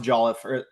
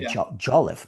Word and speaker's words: Jolliffe: That doesn't really make sense, but it's pronounced Jolif. At least that's how I say it. Okay. Jolif.